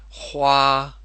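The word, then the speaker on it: 花: for flowers and birds the thing about the pronunciation with these words for say flower if you're not comfortable with that error sound just leave it off and say Hua and the same for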